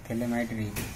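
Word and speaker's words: phthalimide: इसके बाद में नेक्स्ट गैब्रिल थैलेमाइड, पी साइलेंट है इसमें, थैलेमाइड सिंथेसिस।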